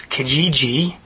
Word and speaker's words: Kijiji: It's called um I'll try and pronounce this. Kijiji.